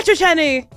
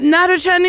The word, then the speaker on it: Natochenny: It's Sarah Nachenny. Did I say it right? You did it great. It's so good. We can go home. Hi Decker. Not Nat Chenny.